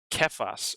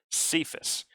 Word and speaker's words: Cephas: would have been saying the aramaic word for rock which is kephas or as we pronounce it when we see it in the bible cephas we see it in